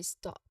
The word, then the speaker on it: stop: Uh, almost like an A, but not totally that. It's like in between O and A. So that is why stop stop O.